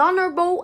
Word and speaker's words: honorable: Essas 4 palavrinhas que começam com H que a gente não pronuncia na língua inglesa, elas têm variação. Então, por exemplo, tem uma frase aqui, an honorable act, an honorable act.